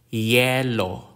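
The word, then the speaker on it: yelo: means none or absent the consonant y like the y in the word yes yellow yellow a yellow is an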